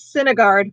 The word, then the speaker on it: Sinegard: Okay, Mickey says Sinegard was how it was pronounced in the audiobook.